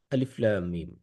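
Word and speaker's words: الم: আলিফ লাম মিম আলিফ আলাদাভাবে উচ্চারণ হচ্ছে। লাম আলাদাভাবে উচ্চারণ হচ্ছে। মিম আলাদাভাবে উচ্চারণ হচ্ছে। আলিফ লাম মিম এটার অর্থের ব্যাপারে আল্লাহ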